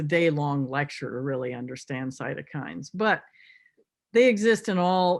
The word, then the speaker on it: cytokines: cohort they keep talking about that is it cytokines how to say it cytokines yeah and so what are they and do